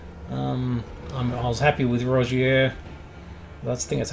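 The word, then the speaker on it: Rogier: really need it um I was happy with Rozier that's the thing that's how you pronounce it so we've with with Margaret I've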